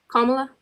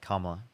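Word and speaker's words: Kamala: Kamla. Yeah, Kamla.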